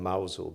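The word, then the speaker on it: Mousehole: we lived in is it's called mousel but it's spelled mous hole and we lived in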